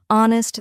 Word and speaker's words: honest: For example, in words like no, the K is silent, honest, the H is silent, and castle, the T is silent.